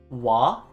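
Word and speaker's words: は: is the character ha it's pronounced wah when used as a particle so when we connect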